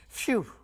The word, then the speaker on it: PHEW: PHEW is how you say that, like, it's a kind of like a release or a relief kind of thing.